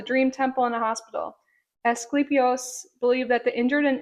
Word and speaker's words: Asclepius: Does it Um it's pronounced Ascle Asclepius.